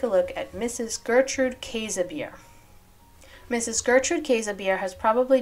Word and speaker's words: Käsebier: Johnston so first the work of Mrs Gertrude casabir don't be too surprised by the pronunciation that is the correct pronunciation I also